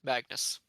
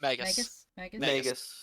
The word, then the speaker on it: Magus: Magnus. Well, there's no N. There's It's no N. M-A-G-U-S. Magus. Magus?